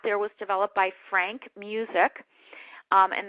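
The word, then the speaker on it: Musiek: was developed by Frank music um and that's spelled not like mus I not like music but it looks like MUSC um you can go online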